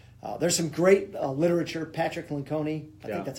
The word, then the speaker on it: Lencioni: do their best there's some great literature Patrick Lencioni that's how you pronounce his name but he's written a number